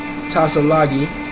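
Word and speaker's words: Tsalagi: The tribal name is a corruption of Tassalagi, T-S-A-L-A-G-I, or Tassaragi, T-S-A-R-A-G-I, the name by which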